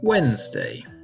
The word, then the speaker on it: Wednesday: But the person who wrote this can't have spent much time in Britain, where the word is pronounced without the first D almost everywhere, except a few areas of North England and Scotland.